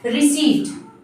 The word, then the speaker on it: receipt: तो रिसिप्ट दे दीजिए, तो इसको हम रिसिप्ट नहीं बोलेंगे, क्या बोलते हैं, गलत तरीके से जो प्रोनाउंशिएट किया जाता है, रिसिप्ट। बट ये क्या है, गलत प्रोनाउंसिएशन है। इसको करेक्टली कैसे बोलेंगे, करेक्ट प्रोनाउंसिएशन क्या है, रिसीट। क्या, रिसीट ओके।